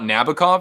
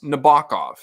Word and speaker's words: Nabokov: It's not Nabokov, it's Nabokov.